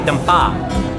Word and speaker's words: Dampa: They just told me it's actually Dampa. Of course it is. Of course we've been saying it wrong this entire episode.